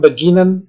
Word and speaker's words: beginnen: Die Verben beginnen, nah ini penjelasannya, die Verben beginnen, erklären, verbessern, verlassen, verstehen, wiederholen sind untrennbar. Die Vorsilbe ist nicht betont. Sie ist unbetont.